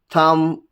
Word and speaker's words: thumb: Whenever there is a combination of M and B at the end of a word, then B is not pronounced.